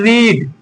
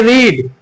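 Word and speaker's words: read: कम second form third में वापस एक लिख लें रीड रीड मतलब पढ़ना होता है। सेकंड फॉर्म देखो स्पेलिंग सेम है लेकिन इसे पढ़ेंगे रीड और इसे पढ़ेंगे रेड और इसे वापस से रीड पढ़ेंगे।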